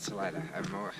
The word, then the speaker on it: Salida: I actually considered, like, what could I get into Salida? They call it Salida. The name of the town is Salida, the way they pronounce it.